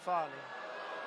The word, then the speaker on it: Fani: What do you think, Fani? Huh? F-A-N-I. That's pronounced Fanny, but you're not allowed to say it. It's Fani.